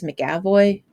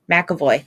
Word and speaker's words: McAvoy: James McAvoy. McAvoy? McAvoy.